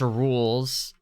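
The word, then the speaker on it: Rouxls: Yes, it is pronounced Rules.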